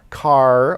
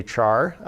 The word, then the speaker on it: char: unfortunate another unfortunate abbreviation char is of course spelled as though it were pronounced char but character does not begin with the syllable char so some people actually pronounce this car or care most people just say